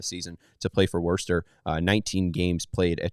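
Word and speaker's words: Worcester: Worster by the way Worster you don't pronounce that R Worster noer W you don't pronounce a lot of the letters in that word to be honest no especially with that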